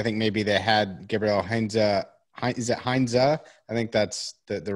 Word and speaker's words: Heinze: And so we were left a bit in the lurch, and they probably started the search immediately, had Heinze in mind because he was available then.